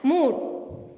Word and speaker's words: mood: The letter group OOD is mostly pronounced with a sharp U. Exceptions are brood, food and mood.